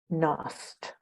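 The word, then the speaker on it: Knost: This is written by someone called L.R. Nost, spelled with a K.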